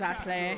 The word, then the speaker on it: Ashley: You have to remember they pronounce his name as Ashley, so I'm gonna do the same.